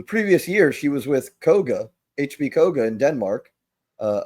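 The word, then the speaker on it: Køge: Koga, not Hoga.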